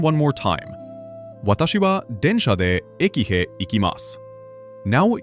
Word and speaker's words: でんしゃ: The word for train is densha. I will say it first. Densha.